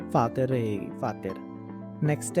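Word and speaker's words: Vater: अगर कोई इंग्लिश का शब्द है, फॉर एग्जाम्पल जर्मन में हम फादर को फातर बोलते हैं, तो उसकी प्रोनाउंसिएशन फातर रहेगी, फातर।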